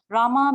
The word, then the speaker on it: Rama: Rama means one who gives pleasure and enjoys life.